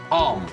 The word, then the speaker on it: palm: this was the only Common Sense Mia laughed Palm p a l m is how you say